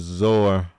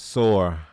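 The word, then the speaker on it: צור: for uh for tire the word for Tire in Hebrew is zor it's sore it's a sad or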